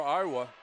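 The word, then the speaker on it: Ioti: I asked the coach on pronunciations, and it's spelled I-O-T-I, and he says it's pronounced Iowa, which I hope it is.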